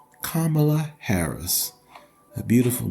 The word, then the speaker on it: Kamala: have a problem with Kamala I mean you've pronounced her name correctly you're not calling her Camala or Camila or camela you're calling her by her appropriate name kamla Harris a beautiful name for a lovely woman